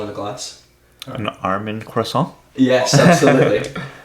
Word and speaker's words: croissant: You have to say like in a French accent kind of crescent.